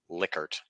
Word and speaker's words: Likert: time yes yeah um I do believe that the proper pronunciation is liquored um yes but I'm